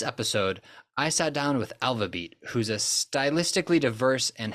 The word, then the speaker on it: ALVABEAT: internet know you as Alva beat Y is that how you pronounce it yeah alab yeah all right perfect so